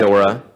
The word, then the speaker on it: Ghidorah: but- Ghidorah.